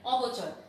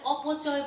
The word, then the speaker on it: অবচয়: অপচয় বলবা না, এটাকে অনেকে উচ্চারণ করো তোমরা অপচয়, এটি অবশ্যই অবচয়।